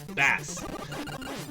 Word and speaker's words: Bass: no no no Bass you guys remember they weren't pronouncing it like the musical terms they were pronouncing it like the fish oh so bad